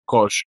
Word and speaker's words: Koch: Dice no, in realtà sono tedeschi, si legge Koch, penso. Koch Media.